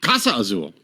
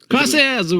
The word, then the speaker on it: Clase Azul: Casa Azul. Clase Azul. No, it's got an L in there.